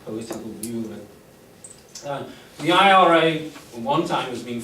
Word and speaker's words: IRA: This is always pronounced as IRA, so you read out the 3 letters in the name.